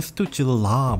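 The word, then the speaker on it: Stützle: 오타와의 스투즐레 선수, 발음이 되게 어려워. 어디서는 스투즐라 뭐 이렇게 얘기하는 것 같고, 이게 발음이 독일어인지 무슨 어디의 어느식 발음인지는 모르겠습니다만 어쨌든 저는 스투즐레 이렇게 발음을 하고 지난 시즌에 터졌습니다.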